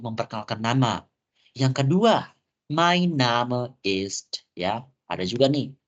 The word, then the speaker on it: Name: So, nama auf Deutsch-nya kita bilangnya Name. Jadi bukan name ya. Jadi aku mungkin tadi mungkin aku pernah chat ke kalian suruh nulis data diri. Itu bacanya bukan name tapi Name.